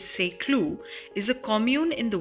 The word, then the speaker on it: Saint-Cloud: get an idea a St Cloud which the French pronunciation is SE clue is a commune in